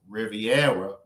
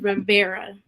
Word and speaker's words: Rivera: his name right okay you got the first name right the last name name is Rivera Rivera okay I apologize Maris